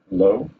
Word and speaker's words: Lowe: It's Alice Lowe, like Lowe's, the department store.